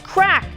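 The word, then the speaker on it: craic: That's crack, but it's spelled crake.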